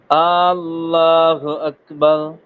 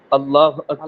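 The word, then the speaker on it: الله أكبر: এজন্য প্রথমে যে আল্লাহ শব্দের প্রথমে যে অক্ষরটা আছে, এই অক্ষরটাতে কি হবে না? টান হবে না। আল্লাহ আকবার এভাবে হবে না, হবে কি? আল্লাহ আকবার। আল্লাহ আকবার। যত সম্ভব প্রথম হামদাটা তাড়াতাড়ি উচ্চারণ করার চেষ্টা করবেন।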